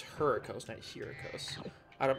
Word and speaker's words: Hurricos: going to do is here a coaster yes I know I'm pronouncing it wrong it's her cause next year this I